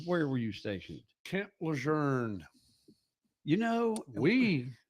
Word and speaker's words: Lejeune: There's no R in Lejeune. It's when I worked for a little while down there. I came across all that somebody said he pronounces his name Lejeune. I was like, well, we don't say it like he.